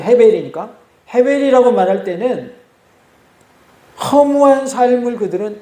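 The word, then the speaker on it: הֶבֶל: 히브리어는 헤벨이라고 발음을 합니다. 아벨을 어떻게 발음한다고요? 헤벨이라고 발음을 해요.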